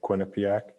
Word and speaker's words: Quinnipiac: go to um i'm gonna say it wrong quinnipiac you said it right but no he doesn't